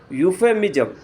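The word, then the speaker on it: euphemism: क्या बोलते हैं यक इसको क्या बोलते हैं यू फेमिय पी एच ई एम आई एस एम यू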